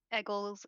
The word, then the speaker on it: Egills: Eggles is spelled Egills.